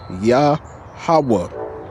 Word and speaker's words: Yahawah: Whenever you see the word Lord in caps, it's a name of the most high, Yahawa.